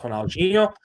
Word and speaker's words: Ronaldinho: As my mom will always tell me that it is actually pronounced Ronaldinho, and that's just because my mom's first language is Brazilian Portuguese.